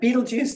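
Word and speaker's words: Betelgeuse: the poet and uh Beetle Juice being the unfortunate English pronunciation of the red star which forms the right shoulder of the constellation Orion Beetle Juice and the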